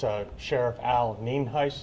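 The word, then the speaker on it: Nienhuis: again for your records it's uh Sheriff Al Neen Heist it's spelled n-i-e-n-h-u-i-s and it's pronounced Neen heis and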